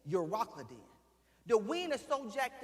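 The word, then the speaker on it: Euroclydon: The wind named and I'mma pronounce it because I said you rockin. Eur o c l y d o n. Uracleen.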